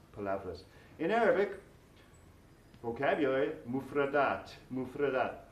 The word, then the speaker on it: palabras: Palabras, words, although it ends with B-R-A-S, is pronounced vras. Palavras. Palavras.